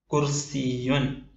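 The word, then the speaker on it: كرسي: രണ്ടാമത്തെ ഉദാഹരണം കു റി സി യുൻ കസേര ചയറ് കു റി സി യുൻ കുർസിയുൻ കുർസിയുൻ കുർസിയുൻ കസേര എഴുതുന്ന കൂട്ടി എഴുതുന്ന രൂപമാണ് ഇടതുഭാഗത്തായി നാം കൊടുത്തത്.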